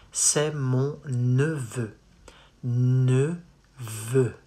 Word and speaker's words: neveu: Neveu. Not nouveau, neveu.